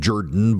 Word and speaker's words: Jordan: So two Democrat progressives ran for office, Miracle Rankin and Jen Jordan, who pronounces her last name Jordan because she's from south of Atlanta, and that's what they do.